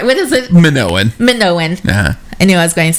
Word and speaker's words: Minoan: closed I said it right what is it Minoan Minoans yeah anyone's going to say it wrong